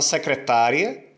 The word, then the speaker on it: secretária: A palavra secretária, secretária, eu alongo a letra A, certo? Então a sílaba tônica é o tá, e é uma paroxítona terminada de ditongo.